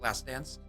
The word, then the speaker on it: Lacedon: Sorry, I pronounce it because it's D-O-N-S, but it's actually D-A-N-Z. It's how you pronounce it, Lacedans.